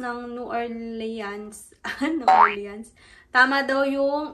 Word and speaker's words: New Orleans: New Orleans? Tama daw yung, ang tama daw ay Nolins.